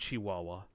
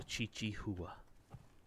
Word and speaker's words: Chihuahua: I'm just a Chi-Chi HOA I know it's pronounced Chihuahua but I call it a Chi-Chi HOA wait hu did I ever send you that